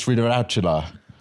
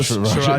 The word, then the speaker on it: Sriracha: genuine meals and then just mispronounces like a word. He just goes like the best sauce I find to go with this is Biracial. Instead of sriracha, he goes like sriracha. Oh yeah, Sriracha.